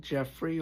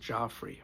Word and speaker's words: Geoffrey: He was born Michael Geoffrey, although I think in England they pronounce it Joffrey. Michael Geoffrey Ralphs, March 31st, 1944, and like I said, he passed June 23rd, 2025.